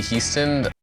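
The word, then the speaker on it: Hiestand: my name is houston very strange that he pronounced his own name houston when his name is obviously high stand i mean he's spelled high stand but it's pronounced houston my name is houston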